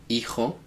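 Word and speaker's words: hijo: So to say son it's eho. Remembering that the H is always silent.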